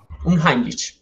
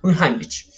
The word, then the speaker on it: Unheimlich: Yo no sé mucho de alemán, por eso me tomé el trabajo de buscar la pronunciación. Entonces, escuchen cómo se pronuncia. Unheimlich. Unheimlich. Yo dije otra cosa. Unheimlich.